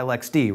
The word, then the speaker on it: LXD: want to refer to so you want us to say Lexi because technically it's a Lexi container what controlled by Lex D right right and I'll be honest I kind of use them interchangeably as I've heard a lot of people in the industry do as well so they get Lex out of their mouth and then it just